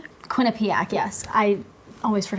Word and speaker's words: Quinnipiac: I mean, they just went and they killed um Quinnipiac. Quinnipic. Yes. I always forget how to pronounce it, but they just went and go and went and killed them.